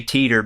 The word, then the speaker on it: Titor: how to say John Titor tighters name the Japanese say Teeter because TI is pronounced T John Titor wasn't real